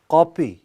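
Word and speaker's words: kapı: اور ترکی زبان میں قوپی، اب اس کے تلفظ میں بھی لوگ غلطی کرتے ہیں، اصل میں کلفی والا قاف ہے۔ ترکی زبان میں قوپی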